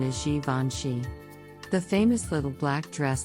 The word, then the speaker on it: Givenchy: another French luxury brand this name is often mispronounced as give and she but the correct pronunciation is Givenchy the famous little black dress that Audrey Hepburn